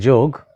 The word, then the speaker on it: yoga: in the body so instead of yoga start saying yog instead of Yama start